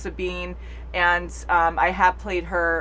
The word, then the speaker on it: Sabine: videos I was like, I think her name's Sabine or Sabine, but I think it's pronounced Sabine.